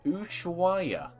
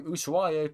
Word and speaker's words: Ushuaia: bottom of Argentina, there is a town called Ushuaia. It is spelled U-S-H-U-A-I-A.